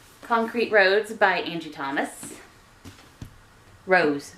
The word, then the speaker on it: Rose: Rose, not Rhodes. Rose.